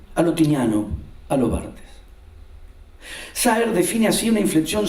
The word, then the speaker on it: Barthes: rusos y de Roland Barthes. Esas, yo digo Barthes, pero Julio ayer lo pronunció bien y ahora me da una vergüenza. Roland Barthes.